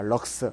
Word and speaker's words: 럭스: 단위는 이걸로 쓰자 뭐다 LX 적고 읽기는 뭐라고 읽는다 럭라 읽습니다 럭스 그래서 조도 2는 s